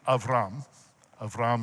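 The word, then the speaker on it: אַבְרָם: Okay, now, Yahweh said to Avram is how you would pronounce it in Hebrew, go.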